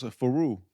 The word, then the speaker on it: Faru: Yeah, it's close. Faru.